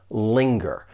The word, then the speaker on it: linger: When you pronounce this verb, it has two syllables. The stress is on that first syllable, linger. But I want to focus on that ng because it can be a little confusing. Look at these two words. They are not rhyming words. Singer, you only have that ing sound, whereas linger, you have the ing plus that g sound afterwards, linger. It's similar to the word finger. These are rhyming words, linger, finger.